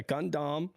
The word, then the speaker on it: Gundam: But instead of DOM, it's DAM because furidamu in Japanese. They pronounce it DAM. So yeah, should have been gun Gundam. And freedom. Yeah, Gundam.